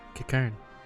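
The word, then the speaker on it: Qiqirn: That's how you pronounce it, Kikern.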